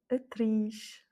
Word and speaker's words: atriz: Donc là, on est bien dans le i, qui est en fait la dernière voyelle du mot. Ce i qui est entouré par deux consonnes, une avant et une après, et donc bien c'est le i qui prend l'accent tonique. Atriz.